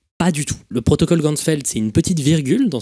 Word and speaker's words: Ganzfeld: de la vision et en allemand champ entier ça se prononce gansfeld ainsi il va créer